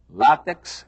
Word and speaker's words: látex: quá quer dizer talvez ensinam que a pronúncia correta é látex e ensinam que a